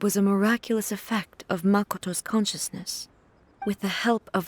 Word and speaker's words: Makoto: mercado's power makato Makoto it's a hard Japanese name to pronounce me Makoto Makoto three syllables right somehow made the tree